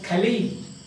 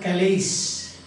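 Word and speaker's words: Calais: And he pronounced it as Kali, not Kalis.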